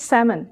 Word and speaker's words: salmon: pronunciation no let's do this conversation with correct pronunciation June should we order some pizza for dinner sure Amy I want some smoked salmon and Tim says he wants some filet Amy